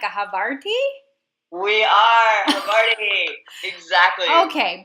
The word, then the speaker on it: Havarti: And I always want to run out of the kitchen and stop them and say, okay, number one is Havarti.